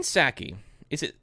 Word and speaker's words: Psaki: But Jen Psaki, how do you pronounce her last name? Psaki. Okay. Like the drink, sake.